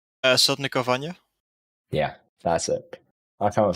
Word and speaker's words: Sotnikovanya: How do you pronounce that name? Sotnikovanya.